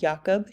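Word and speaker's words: Jakob: heard of our variant Cru spelt um it's pronounced yakob disease also known as mad cow disease and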